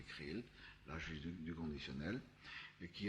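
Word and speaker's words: KR2L: Ça s'écrirait K-R-2-L et ça se prononcerait Krill, l'âge du conditionnel, et qui est resté 2 ans aux États-Unis, qui est tombé malade.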